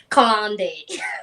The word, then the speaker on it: Kalande: Kalande.